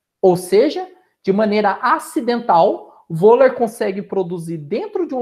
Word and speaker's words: Wöhler: Porém, pessoal, em 1828, um cientista chamado Wöhler, alguns pronunciam como Vula, né? Mas Wöhler, acidentalmente, ele muda totalmente a história da química orgânica.